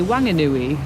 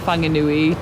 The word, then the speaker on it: Whanganui: But some people say Wanganui because it's spelled W-H and people can't pronounce F. So how do you spell the town that we are in right now?